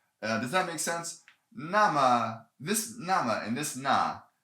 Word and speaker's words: 那: thing here they cannot this na can not print cannot be pronounced nay it's always na uh so if if